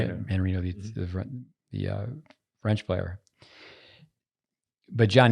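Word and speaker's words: Mannarino: Manarino, the French player.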